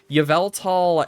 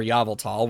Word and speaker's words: Yveltal: know as much about, like Yveltal and, or Yveltal, whichever you prefer to pronounce it as, and Xerneas.